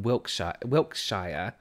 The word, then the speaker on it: Wiltshire: My brother says he is from Wiltshire. Oh, like how Americans would pronounce it, like Shire at the end.